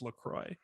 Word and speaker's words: LaCroix: i'll tell you about why it is actually pronounced lacroix because it was initially even though it's run